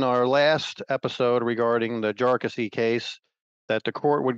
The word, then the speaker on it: Jarkesy: the name of it and we've called it Jesy jesi I was told earlier today that the actual pronunciation is jassy and that was used by Mr jassy's lawyer